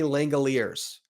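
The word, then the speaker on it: Langeliers: Shea Langoliers, kind of like chandeliers.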